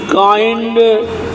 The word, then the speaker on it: kind: अब आई का उच्चारण के आई एन डी काइंड, इसमें आई का उच्चारण नहीं होता है, काइंड लिखना पड़ता है, उच्चारण।